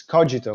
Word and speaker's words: Kogito: therefore i exist and the pronunciation the canonical pronunciation if you will it's cogito for us but actually uh since it comes